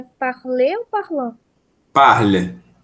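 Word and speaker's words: parlent: je par par par a terceira do plural também é parl a gente não pronuncia o ent mas escreve mas não pronuncia ele tá bem obrigada nada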